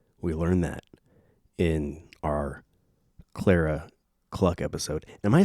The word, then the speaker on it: Clara Cluck: going like is this is it pronounced claraa claraa cluck that can't be right never mind it's Clara you disagree that's you're